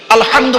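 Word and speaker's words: الحمد: রাব্বিল আলামিন আলহামদু আলহামদু এই গলার ভেতর থেকে উচ্চারণ করবেন আলহামদু মানে হচ্ছে সমস্ত প্রশংসা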